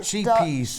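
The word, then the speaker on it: Scheepjes: Sheepies.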